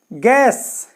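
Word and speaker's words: guess: दिखाने वाला नेक्स्ट है गैस गैस मेंस होता है अनुमान लगाना तो गैस में भी देखिए यू के बाद में क्या ए गया तो ये यू साइलेंट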